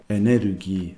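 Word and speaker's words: エネルギー: The word energy has, I think, gone across into Japanese too, but the standard word is still enerugi, and it's important to actually pronounce it like that.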